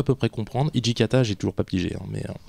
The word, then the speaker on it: Hijikata: appris récemment qu'en fait le Hijikata était un hommage à Jean Jeunet en fait c'est la prononciation japonaise de jet d'accord ah bah on